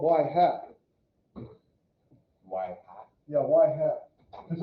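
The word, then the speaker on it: ŷ: x what's your predicted why so this is pronounced y hat okay yeah and this is for this is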